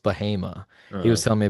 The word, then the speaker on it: Bahama: it looks like Bahama, but it's pronounced Bahama.